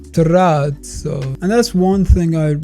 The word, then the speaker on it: terrazzo: In English, it's pronounced trzo, but the right way to pronounce it is actually trato because it's originally Italian. It's like trato.